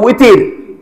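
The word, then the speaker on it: وتر: ওয়াও বাংলাতে বের উচ্চারণ হয় ওয়াও বাংলাতে কিয়ের উচ্চারণ হয় আমরা বিতির নামাজ বলি না বিতির বিতির বলে কোন নামাজ আছে নাকি এটা তো উইতির ওয়াও তারা উইতিরুন ওয়াও উইতিরকে আমরা বাংলায় কি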